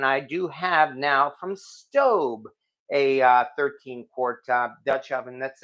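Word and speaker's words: Staub: far as I know it is in fact pronounced stove not stab or stab because and that's what I thought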